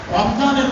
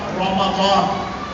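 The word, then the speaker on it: رمضان: আল্লাহ তাআলা স্পষ্ট করে বলেছেন শাহরু রমাদান আল্লাযী উনজিলা ফীহিল কোরআন, রমজানের মাস, রমাদান মাস, শাহরু রমাদান। আমরা রমজান বলি, কিন্তু আল্লাহ রমজান বলি না, আল্লাহ বলেছেন রমাদান। কোরআন শরীফের আয়াতের শব্দ উচ্চারণ হলো রমাদান।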